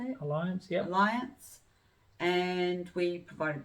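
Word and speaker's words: Allianz: Alliance, yep.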